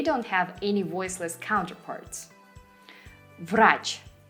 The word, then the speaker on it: Врач: Врач. V sounds as V. Врач.